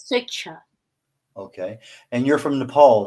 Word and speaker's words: Swechcha: Pronounced as Switcher.